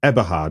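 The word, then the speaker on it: Eberhardt: film, it's really interesting how, and it's Tom Eberhard, isn't it? You pronounce it. Yes. That's the director of the film. Eberhard.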